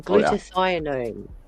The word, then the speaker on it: glutathione: Get some glutathione.